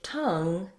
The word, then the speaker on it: tongue: Letter O actually says schwa. So tongue and sung are rhymes. So you can try, I sung with my tongue.